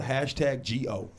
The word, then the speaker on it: Hash Go: you see it right it's hash go um because sometimes go is too slow so you got to say you got to you got to you know phonetically put it out there hash yeah you know